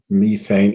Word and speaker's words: methane: a good idea to turn methane or methan there's two different ways to pronounce it into to CO2 now